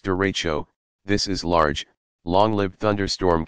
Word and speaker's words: derecho: refracting sound downward you what is a derecha you pronounced derecho this is large long-lived